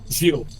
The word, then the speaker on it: Zeal: Zeal. It's a Dutch word.